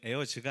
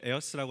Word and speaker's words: AiRS: 그 에어스를 읽는 방법에 대해서 몇몇 분들이 질문을 하시는데요. 저게 영어 잘하시는 분들은 에어즈가 아니냐. 근데 제가 그렇게 항상 하는 말이 원더걸즈가 아니라 한국에서는 원더걸스라고 읽죠. 그래서 에어스입니다. 그래서 저희는 에어스라고 하고요.